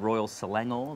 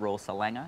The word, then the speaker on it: Royal Selangor: bring them right in fastest on the right syllable is very important too um good old royal selangor the nice glassware not raw selangor as i said i think the first show